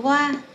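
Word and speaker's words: は: chúng ta trợ từ hoa đúng khó viết là hay nên đọc là hoa là trợ từ của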